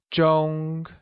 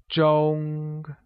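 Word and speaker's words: 钟: great clock translates to zhong which is pronounced using a high level tone like zhong now becomes shenzhai shinzai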